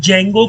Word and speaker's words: Django: तो पिप इंस्टॉल जंगो इसमें डी जो होता है दोस्तों वह साइलेंट होता है इसलिए इसको हम लोग जैंगो बोलते हैं बहुत से लोग इसको डी जंगो भी कहते हैं ठीक है तो आज